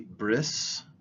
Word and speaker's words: bris: used in in Hebrew the word for covenant is breached or it would have been pronounced brief which later on in Ashkenazi Hebrew pronunciations becomes Bri bris and so the word bris is a way of saying is the Ashkenazi way of saying covenant and so the the